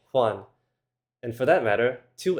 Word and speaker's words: Juan: And the letter j is different, too. That's pronounced with the English "h" sound, like in the name Juan.